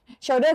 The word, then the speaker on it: shoulder: ตบ มือ แต่ ว่า Shoulder นะ นี่ ไม่ อ่าน ว่า sho นะ ถ้า ๆ นัก เรียน ถ้า อย่าง งี้ เป็น sho นะ คะ sho แปล ว่า ควร จะ นะ อ่าน ว่า sho นะ แต่ ถ้า อัน นี้ อ่าน ว่า Shoulder แปล ว่า ไหล่ นะ คะ เ ก็ แป